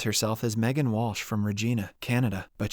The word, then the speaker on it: Regina: as Megan Walsh from Regina Canada but she pronounces it to rhyme with vagina all the students laugh